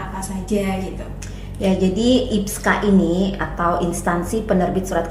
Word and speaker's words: IPSKA: Kita biasanya bilangnya IPSKA.